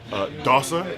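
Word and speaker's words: dosser: I know from Tyson Fury, Dossa. Is that how you say it? Dossa, yeah, it means lazy.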